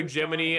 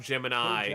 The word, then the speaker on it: Gemini: Why Gemini and not Gemini? just like almost certainly because of American accents almost certainly or because of phonetics.